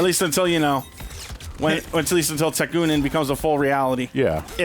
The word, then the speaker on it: Tekunin: Tekunin. Okay. I thought So you pronounced that right.